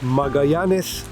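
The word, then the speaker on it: Magallanes: که در کنار تنگه ماژلان قرار گرفته همین تنگه که در حقیقت ما بهش میگیم ماژلان ولی به اسپانیایی میگن ماگی نس و البته ایشون پرتغالی بود و تلفظ دیگه‌ای داره اسمش و شهر پونتارناس ۱۸۴۸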